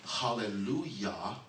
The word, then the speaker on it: hallelujah: noticed when we say hallelujah it's spelled j a but we pronounce it y when else do you